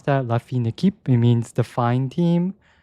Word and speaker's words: La Fine Équipe: Yes, I did need to look up how to pronounce that. La Fine Équipe.